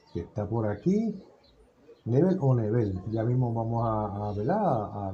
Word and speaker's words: Nebel: todo bien gracias a la pronunciación correcta en tu nombre pues sería nivel en ese nivel ok